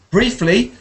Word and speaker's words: briefly: Briefly has an E.